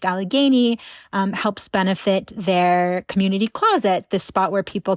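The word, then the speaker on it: QMNTY: and benefit show for Community Closet. That's happening on December 23rd. If you're not familiar with them, uh, the community center, this is spelled QM NTY.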